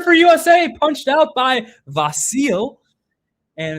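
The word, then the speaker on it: Vasilj: I've heard it pronounced different ways, but Vasil um I think that's how Derek Ray says it. And if that's how Derek Ray says it, it's definitely right because Derek Ray is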